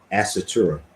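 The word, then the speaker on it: Ásatrú: So I know you phonetically put that out there before, but I keep on saying it wrong. Asatura.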